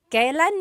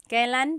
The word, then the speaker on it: kailan: And then just a pronunciation tip, it's pronounced kailan, kailan, but you will often hear it pronounced kailan, kailan. Kailan ang kasal? Kailan ang kasal? But it's not wrong to hear kailan ang kasal. It's a little bit more formal.